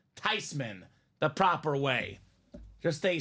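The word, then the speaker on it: Theismann: she said I'm not mad it's not even thyman it's supposed to be not even thian it's actually pronounced tyman the proper way just a slight smudge on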